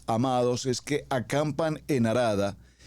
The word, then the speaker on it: Harada: Esta palabra arada como suena con letra H. Cuando la leemos en el hebreo, más que arada, la pronunciaríamos como una jarada.